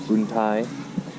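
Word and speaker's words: Boun Tai: I said it wrong earlier. It's not Boon 2, it's Boon Thai.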